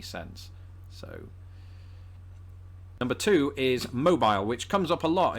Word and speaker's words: Mobile: Unless you're down in Alabama where there's a city spelt exactly the same way, pronounced mobile, and that is why this word makes my brain melt through my nose.